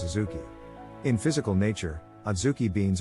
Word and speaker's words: Adzuki: The name Adzuki is a Japanese word whose pronunciation is Azuki.